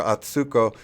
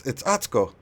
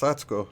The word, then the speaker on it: Atsuko: And I called her Atsuko, and she goes, "No, it's Atsuko." And I'm like, "All right." I'm like, "Thanks for helping me." So I apologize for mispronouncing your name. She goes, "You put too much stress on the Sue."